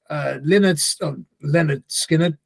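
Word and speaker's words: Lynyrd Skynyrd: And stylistically, I think it sounds a bit like the band The Weight, Take a Load Off Fanny, and Leonard Skinner style of track, early 70s sort of vibe.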